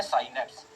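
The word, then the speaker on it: synapse: तो उसे आप लोग बोलते हैं साइनेप्स, या कई जन इसको सिनेप्स भी बोलते हैं, है ना। तो प्रोनाउंसिएशन की दिक्कत नहीं है, बस दिक्कत है समझो क्या है।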